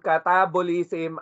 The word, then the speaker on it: catabolism: Naririnig natin module 1, catabolism, anabolism, di ba? Nasabi ko pa nga noon sa module 1, pag catabolism, it rhymes with cat.